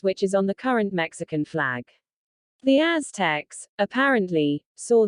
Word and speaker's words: Mexica: They called themselves Mexica, pronounced Meca.